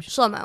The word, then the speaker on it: Shlomo: Shlomo.